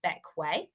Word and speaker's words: Bequia: And also just to mention, despite being spelt more like Bequia, it's actually pronounced Bequia. So as you can see there, Bequia is a small lightning bolt shaped island.